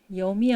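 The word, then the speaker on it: यं: 염이 아마 가슴차 이거 산스크리트 그걸로 염이라고 읽거든요. 옴만 보셨죠? 옴 말고 염입니다.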